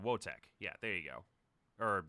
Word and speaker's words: Wojtek: Okay, so like, let's see, Wojtek. Wotek. Yeah, there you go. Or did yeah, Ethan pronounced it.